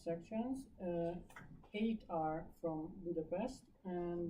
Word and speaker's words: Budapest: wants to go to Hungary you go to Budapest not to Budapest but it's just fun fact you want